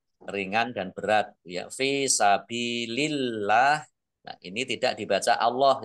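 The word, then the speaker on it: سبيل الله: Jadi kata Allah itu kalau harokat di depannya kasroh itu dibacanya ya tipis maksud saya. Maksudnya tipis, dibaca ringan. Ya. Dibaca tipis. Sabilillah.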